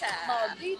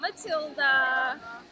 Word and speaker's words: Maldita: I like how you put the stress on the right syllable. Maldita. Maldita, not Matilda.